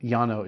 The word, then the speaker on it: Llano: there's a town called Llano it's felt like this but Yano is how you pronounce it seller reserve Chardonnay 2016